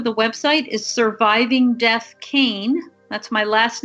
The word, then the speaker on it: Kean: the url for the website is surviving death kane that's my last name which is spelled k-e-a-n k-e-a-n and if you go to